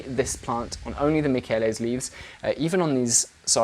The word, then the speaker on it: Michele: So yeah, this is Hoya Michele or Michelle. I think it's supposed to be pronounced Michele.